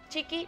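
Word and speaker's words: Txiki: Chiqui, chiquito. Es español, no euskera. Nah. A ver, Chiqui se escribe T-X-I-K-I. Chiqui, pequeño, en euskera.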